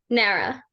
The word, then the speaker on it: NARA: How do you guys pronounce it? Nara. Nara.